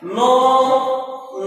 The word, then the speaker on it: know: Next, kite, no knife. KITE, kite. KITE pronunciation is kite.